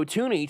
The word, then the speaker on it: Thuney: Last name pronounced Thuney, not Thuney.